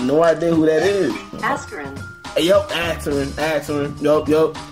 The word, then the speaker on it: Askren: Ben, I think, Akron? Okay, Google Translate. Save me now. Do not know how to pronounce his last name.